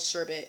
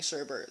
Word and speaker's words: sherbet: have been rainbow sherbet I know it's spelled sherbet and I'm trying to say it correctly but we I grew up saying Sherbert so deal with it